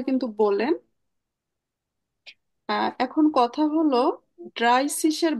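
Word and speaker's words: dreißig: তো double S এর উচ্চারণও এস এর মতো, এজন্য আমার সিসি উচ্চারণ হচ্ছে, বানানটা জাস্ট এরকম।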